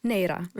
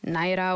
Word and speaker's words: Neira: So, for example, if my name is Neira, I pronounce it to everyone who I meet Neira. That's it, right? If you really cannot pronounce it properly, I say Naira or, you know, something that's slightly off, fine, if you really can't pronounce it.